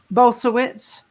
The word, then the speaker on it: Bulsiewicz: Will Bulsiewicz, I think. So he spoke at ICNM. How is it pronounced? Bulsiewicz.